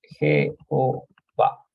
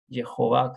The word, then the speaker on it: Jehová: Jehová, si esta J se pronuncia como J, ¿no? No como H.